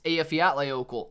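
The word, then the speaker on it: Eyjafjallajökull: nice man very nice afiya outlay opal is how you say that volcano pringleton is from ireland a fiat layovel nice danelle bye everyone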